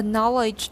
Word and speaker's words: knowledge: A knowledge of Na. In American, it's na. Knowledge. a knowledge.